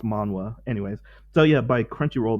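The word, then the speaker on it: manhwa: uh korean manga sorry korean manga but it's pronounced manwa anyways so yeah by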